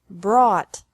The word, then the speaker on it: brought: Brought. Brought. Buy. Bought. Bought. Catch. Caught. Caught. Fight. Fought. Fought. Seek. Sought. Sought. Teach. Taught. Taught. Think. Thought. Thought. Remember that the G is silent in these verbs.